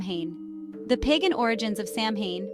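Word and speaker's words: Samhain: the pagan origins of Sam Hae pronounced sawin or sawin has its roots in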